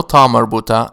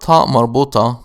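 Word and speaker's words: تاء مربوطة: It carries this name because it is pronounced as a ta when it is part of a possessive construction. When it is not part of a possessive construction, it is pronounced ah.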